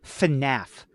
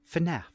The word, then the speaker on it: FNAF: FNAF. FNAF.